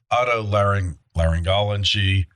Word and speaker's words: otolaryngology: I'm not going to try to pronounce that. I believe it's otolaryngology.